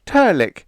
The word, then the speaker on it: Trlk: It's Turlick, pronounced Turlick, and spelled Trlk.